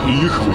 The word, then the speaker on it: Йыхвы: Знаешь, Йыхвы такая, Йыхвы читается так.